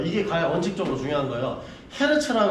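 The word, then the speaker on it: Hertz: 그리고 여러분 이거를 미국 애들이 뭐라고 한다? 지들 마음대로 트라고 하는 거예요. 헤르츠가 원래 이름이에요. 그러니까 미국식 발음이고 그냥 됐죠. 예. 그러니까 그냥 그렇게 막 막 쓰지 마시고 그러니까 헤르츠라고 불어 주시면 됩니다.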